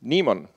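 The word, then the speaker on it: Naemon: the project name is Nieman so far I always liked anagrams though Neiman means networks applications and event monitor you pronounce it just like daemon I created it last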